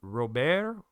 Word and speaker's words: Robert: Part of that is because in French, his name would be pronounced Robert, which to me is pretty close to robber.